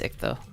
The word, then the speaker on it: ichthyomancy: The ichthyomancy summons all the, it's not ichthyo, it's ichtho. I'm just saying it wrong.